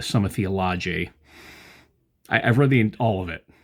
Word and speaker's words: Summa Theologiae: I did pronounce it right, not Summa Theologica, Summa Theologiae.